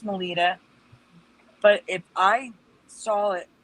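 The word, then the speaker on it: Melitta: It's pronounced Melita, but if I saw it, I would call that Melita, and the M.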